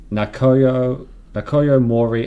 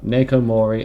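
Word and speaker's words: Naoko Mori: Nakoyo Mori as Dr. Sato. I think you've slightly overpronounced. I think it's just Nako. Oh, Nako Mori as Dr.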